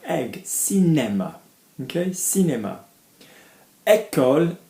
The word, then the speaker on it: cinéma: If I have an accent on the E, so cinéma, I'm going to go above the line, like egg, cinéma, okay, cinéma.